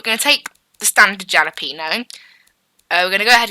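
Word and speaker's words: jalapeño: I think it's obviously meant to be pronounced jalapeno, silent J, jalapeno. So that's what we're going to make, the jalapeno GT Turbo.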